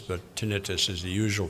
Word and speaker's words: tinnitus: Some people pronounce it tinnitus, but tinnitus is the usual pronunciation.